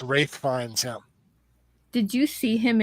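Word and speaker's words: Ralph Fiennes: just so adorable but actor better not be Ralph fenis it's R fines that's how it's pronounced actually oh ra Ralph fines a rith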